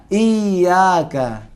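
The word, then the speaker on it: إِيَّاكَ: आप पढ़ें रब्बिल आलमीन, रब्बिल आलमीन, मद्द, मद्द, सब पढ़ें, मद्द, मद्द, शद्द, शद्द, इयाका। इयाका। यहाँ पे क्यों हम जोर लगा रहे हैं इयाका में? क्योंकि यहाँ पर तशदीद है।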